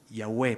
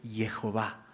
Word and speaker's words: Jehová: realidad representa el nombre Bueno yahwe pero en realidad su pronunciación correcta es Jehová Jehová es la manera correcta de leer esto y eso eso eso